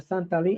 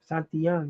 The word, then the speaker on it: Santillán: Yeah, the Santalin. How you say his name? Santalin. Santillan. Santillán, yeah, Santillán is a good fighter, bro.